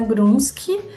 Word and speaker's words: Grunschy: É Grunski. Grunski se escreve Grunschy, acho que provavelmente vai estar aqui na legenda em algum lugar.